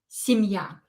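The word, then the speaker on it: семья: speaker national let's begin the first word is simia so this is the stress the stress is on ya uh don't forget to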